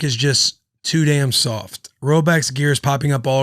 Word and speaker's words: Rhoback: you like Bussin with the boys, you wear Roback.